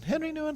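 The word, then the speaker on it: Henri Nouwen: we pretend to be dutch theologian henry newan or is henry doing henry knew and henry knew and it's spelled with an i he once wrote you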